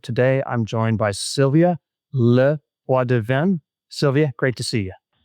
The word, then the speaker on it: LePoidevin: Today, I'm joined by Sylvia Leadven.